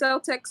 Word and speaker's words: Celtx: Celtex is spelled CELTX.